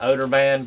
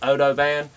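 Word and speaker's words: OdoBan: always said it wrong I've said odor band but it's Odo band uh and so just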